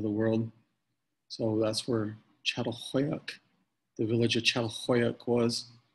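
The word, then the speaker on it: Çatalhöyük: We're going to talk about the village of Catalhoyuk, is how you say it.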